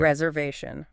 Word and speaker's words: reservation: You might need to make a Reservation. Book a table in advance. Exactly. A reservation. And the stress is way at the end.